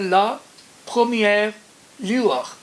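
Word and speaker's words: La Première Lueur: کا اصل تلفظ ہے لا پرومیئر لیور، یعنی فرسٹ گلیم یا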